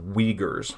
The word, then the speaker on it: Uyghurs: xinjiang and the uyghur people that word is pronounced uyghurs okay this has become a controversial issue lately